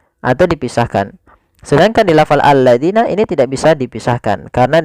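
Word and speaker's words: الذين: Kemudian hati-hati pada lafal alladzina, jangan sampai kita membacanya zina, misalkan allazina. Nah, ini kurang tepat atau salah. Kenapa? Karena dia merubah huruf antara huruf zal diganti dengan huruf zai.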